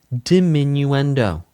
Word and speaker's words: diminuendo: Dominuendo is dimminuendo. Dimminuendo dimminuendo crescendo. It's technically to corre It is technically correct to pronounce multiples of crescendo as crescendi and multiples of diminuendo as diminuendi.